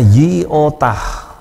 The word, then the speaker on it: iota: itu untuk tet kemudian iota itu dibacanya yiotah yiotah ya ditulis seperti huruf i